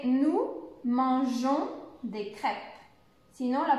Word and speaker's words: mangeons: donc il faut rajouter le eux pour pouvoir prononcer nous mangeons des crêpes sinon la prononciation ne serait pas